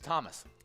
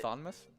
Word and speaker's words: Thomas: we got uh with thomas yeah thomas are is that how you say that's how you spell thomas yeah talk you didn't know that it was the h is silent and well no no